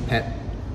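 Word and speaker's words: เผ็ด: So what happens with when you see a T at the end of the word in Thai, it's swallowed. There's no air that comes out after it. So like the word for spicy, pet.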